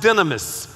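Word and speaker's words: δύναμις: acts chapter 1 verse 8 says that you will receive power when the holy spirit comes upon you the word power in the original language is pronounced dynamous say dynamous with me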